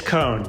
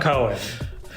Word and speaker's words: Cone: i'm good jason and it is cone c-o-n-e pronounced not cohen also a producer on